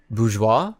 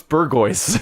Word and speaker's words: bourgeois: Bourgeois? Wouldn't you see it in books and stuff, and it would be like, what's burgoise? Burgoise? Because that's how it's spelled, is like burgoise.